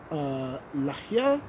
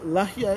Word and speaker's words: lahia: Somebody was asking about lahia. Yes. So the lahia is spelled, well, in English at least, it's a, it's L-A-H-I-Y-A, lahia, or lahia.